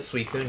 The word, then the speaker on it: Suicune: So hey, and Suicune, is that how you pronounce it? Suicune, yeah.